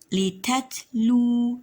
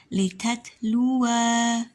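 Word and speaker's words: لِتَتْلُو: Litatlu. Nah, jadi wawunya diberikan tanda sukun atau dimatikan ya. Litatlu, bukan litatlua ya, tapi litatlu, seperti itu.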